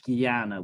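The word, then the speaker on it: ज्ञान: in the category of Gana with a JN it's the only word in one of the very very few words in Sanskrit that you don't pronounce as it's written it's written Chana and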